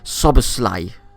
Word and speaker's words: Szoboszlai: to pronounce his name believe it's sober slay something like that i actually felt like